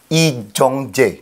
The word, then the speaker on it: Lee Jung-jae: Am I pronouncing your name right? Lee Jong-jae.